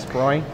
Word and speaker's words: Sproing: Did I pronounce that correctly? You did, thank you, that's right, Great. Sproing.